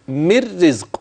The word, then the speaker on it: من رزق: مر رزق، هكذا مركنش عندها. مر رزق زي ما قلتي كده، قولي زي مر رزق. مر رزق، أيوة هي كده، ده النطق السليم بتاعها.